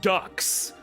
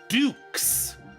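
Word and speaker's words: Dux: Golem got it and everyone pronounce it Ducks because he's a duck it's Dukes it's an actual name it's French and by the way Dukes means duck I hate that it's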